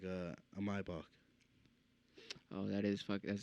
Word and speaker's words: Maybach: Maybach, Maybach truck specifically.